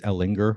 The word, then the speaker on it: Ehlinger: I think with Sam Ehlinger, I'm not going to, I think it's Ehlinger, right? Hard G.